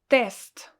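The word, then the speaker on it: тест: next is a word test test as you can hear i pronounce it really strong so it's really hard it is a sound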